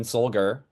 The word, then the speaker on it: Solger: My name is Solger, hard G.